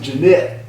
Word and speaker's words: Janet: It's spelled Janet, but in Seaford everybody pronounced it Jeanette.